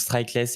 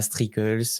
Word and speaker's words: Striklles: Voilà, ça se prononce Strikeless et pas Strikels, Strikels, enfin voilà.